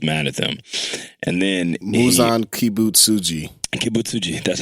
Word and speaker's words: Muzan Kibutsuji: And then Muzan Kibutsuji, that's how you say it.